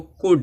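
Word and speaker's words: could: जाएगा इसी तरह से यहां देखो कुड है लास्ट में डी है डी से पहले एल आएगा क्या हो जाएगा एल साइलेंट होगा तो मशा का काफ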